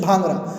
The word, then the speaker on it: Bhangra: तो पहला है भांगड़ा, हम लोग हिंदी में भांगड़ा बोलते हैं, बट in English भांगड़ा। This is the spelling BHANGRA।